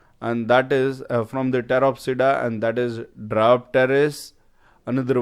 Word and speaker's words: Pteropsida: Here P is silent, so we are calling it Pteropsida.